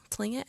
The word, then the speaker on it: Tlingit: Tlingit, I think is how it's pronounced.